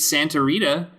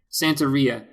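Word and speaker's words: Santeria: that right awesome um picked Santa Rita is that no no no no no Sant Santa Ria see s Santa Ria by Sublime and I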